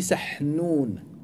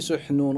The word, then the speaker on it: Sahnoun: Donc on dit Sahnoun. Et même certains récents malikites sont tombés dans l'erreur, ils ont prononcé Suhnoun en disant que Sahnoun n'existe pas dans la langue arabe.